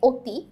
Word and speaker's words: অতি: তাহলে এই স্বরেয় অ এর মতো উচ্চারণ না হয়ে ও এর মতো উচ্চারিত হয়, এই জন্যই বলা হয় এটার সংবৃত উচ্চারণ, ঠিক আছে?